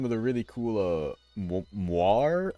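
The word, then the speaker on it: moiré: the really cool uh moir effects I believe is how it's pronounced m o i r e it's French I I think it's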